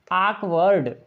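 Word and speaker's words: awkward: तो यहाँ पर आक, समझ में आया, आकवर्ड, आकवर्ड इसको पढ़ेंगे आकवर्ड। तो यहाँ पर उच्चारण सही होगा इसका आकवर्ड।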